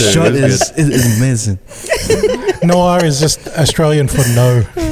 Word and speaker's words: noir: Noir is just Australian for no.